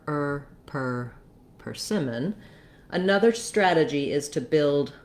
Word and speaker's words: persimmon: do a strong er you don't want persimmon but you do need that tight back american r so again you can build from the r er per persimmon another strategy is to